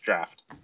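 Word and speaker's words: draught: so long you are you are correct that that is pronounced draft okay uh let's do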